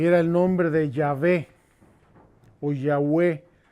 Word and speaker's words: Yahvé: era el nombre de yahvé oyagüe me parece que me hebreo suena más bien ya ve que ya ve nosotros